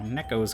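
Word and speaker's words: ねこ: the I guess you there's kind of a tendency to say it kind of like it has two KS as an English speaker for Neco like maybe even like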